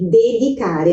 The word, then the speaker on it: dedicare: No italiano, esse di se pronuncia dessa maneira mesmo, di, dedicare, nunca vai ser dedicare.